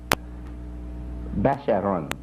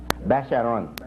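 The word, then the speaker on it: بشرٌ: Now he has here, men are called Basharun. Basharun. Common pronunciation, Bashar. Basharun.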